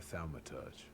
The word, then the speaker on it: thaumaturge: I'm a Thaumaturge. A thaumaturge. Where are you coming from? That's how you pronounce it.